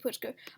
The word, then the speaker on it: Pritzker: illinois uh jb pritzker i believe how you pronounce his name uh i'm so yeah here it is yep jb putzka um i mean he's he's very unpopular he